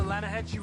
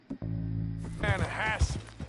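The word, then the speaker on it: Lannahechee: The other day, I rode down to the Lanahatchee River. I caught some beautiful steelhead trout. You mean the Lanahassee River? No. The Lanahatchee. It runs right near here. Yeah, but it's pronounced... Lanahassee. Why is everything in English said differently than it's written?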